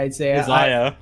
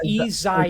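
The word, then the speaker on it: Iyzia: I keep going I keep going to say Isaiah it's easy I gotta start like giving you these names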